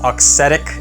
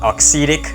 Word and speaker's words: Auxetic: up on the list is the new head oxetic radical Pro so I've been told by pretty much everyone that it's pronounced oxetic not oxidic so part of my pronunciation in the past